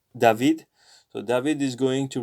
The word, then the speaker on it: David: return whole return soon it's david but since we're doing spanish licensure we should read it as david so david is going